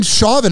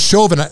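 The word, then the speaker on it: Chauvin: and I like that I say it wrong I keep saying shavin everyone says shovin Shin's better man I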